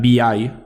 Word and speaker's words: vi: de visual por tanto V que en realidad se debe pronunciar vi y ex comparten el mismo código se puede pensar que vi simplemente lanza ex con